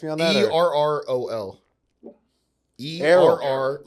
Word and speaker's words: Errol: ERROL. Errol. Errol, yeah. Without the H.